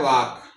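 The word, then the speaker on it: walk: जैसे हमने कहा है वाक ए के बाद आया तो ये एल साइलेंट है।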